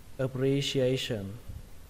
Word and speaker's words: appreciation: Appreciation, các bạn nhớ nhá. A nó phải to hơn những cái âm khác.